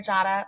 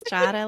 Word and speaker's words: Jadah: much for being here Jada like Prada yes Jada like Prada I used